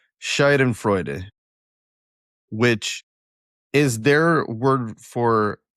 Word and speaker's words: Schadenfreude: It's Schadenfreude.